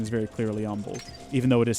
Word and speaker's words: Humble: of Texas pronounces it humble like the H is silent and you can always